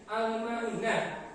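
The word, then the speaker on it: الماعون: Nah, contohnya itu ada bacaan alif lam pada bagian al-ma'unah. Lamnya itu dibaca sukun. Al-ma'un. Nah, lamnya dibaca sukun.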